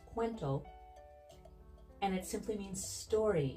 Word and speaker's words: Kuwento: it's fairly elegant and fun quento is actually pronounced quento and it simply means story in Filipino and